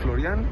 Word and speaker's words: Florian: Felicidades mi querido chá tu pronunciación correcta es florian tu flor tu en francés Cómo dices los quiero